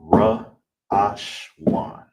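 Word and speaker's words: ראשון: All together is ra ash wan. Ra ash wan. That's how you say first, all right?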